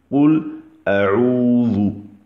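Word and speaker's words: قل أعوذ: Donc, La manière sahih, la manière authentique de le prononcer, c'est Oul A'oudhu.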